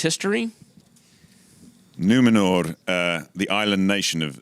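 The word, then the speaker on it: Númenor: island kingdom of numenor well-pronounced r on the end numenor numenor i don't want glenn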